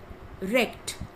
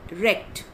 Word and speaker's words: wrecked: Next, wrecked, W-R-E-C-K-E-D, wrecked. The W is silent, so you will pronounce it as wrecked.